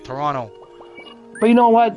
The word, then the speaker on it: Toronto: we pronounce it so we don't say the T we we use an r instead Toronto but you know what